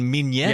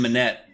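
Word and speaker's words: Minnette: Dylan Mignette? Yeah, I think you added a little bit too much You went French really hard in on there. that. You just say it like an American. Dylan Minette.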